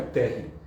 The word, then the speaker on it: Terry: Como meu nome é importado, mas a carcaça é brasileira, meu nome é Terry, que é Terry, né? Que vem da pronúncia americana.